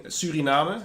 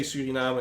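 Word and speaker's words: Suriname: Also later today we'll be seeing Surinama and we will say Surinama because that's the Dutch way to pronounce it.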